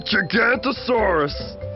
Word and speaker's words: Gigantosaurus: I'm Gigantosaurus, the longest meat-eating dino who ever lived. You say my name like this, Gig-ant-o-saurus.